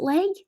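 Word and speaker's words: Legge: his leg is it leg it's it's l-e-g-g-e is the surname how do i pronounce that oh um yeah leg so tiggy what's your scholar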